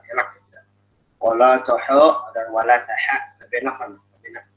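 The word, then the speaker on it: ولا تحاضون: Dan ingat, di sini tipis, ya, jangan hawab. Kadang orang bacanya wala tahub. Kenapa jadi tebal? Karena ada huruf pot. Jangan kepengaruh huruf pot. Jadi yang pakai huruf tebal, taruhin huruf tipis. Wala taha. Jangan wala tahu.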